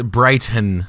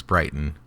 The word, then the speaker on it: Brighton: the b well it's brighton but in utah we don't pronounce our t's so it's brighton all right so you're